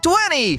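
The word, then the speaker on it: twenty: A primeira parte soa como two, igual a pronúncia do número dois em inglês. Depois a gente diz an, como na palavra andar. E por último dizemos ni como no nome Nicolas.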